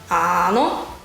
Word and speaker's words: áno: The word yes is áno, áno. It's a long A at the beginning of the word, áno.